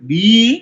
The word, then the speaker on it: Wien: Wien, y como mi apellido, la IE, que es alargar la I.